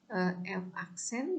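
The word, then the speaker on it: f′: seperti ini ya jadi bacanya F aksen gitu ya Evan ini adalah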